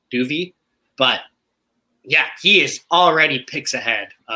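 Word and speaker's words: Dov: D-O-V, pronounced Duvet, apparently, Duvey.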